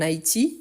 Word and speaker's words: Haïti: Donc, on utilise, même si ce soit masculin, car le mot commence par une voyelle ou un H muet, et on fait la liaison. Donc, c'est pour ça. Donc, il habite en Haïti.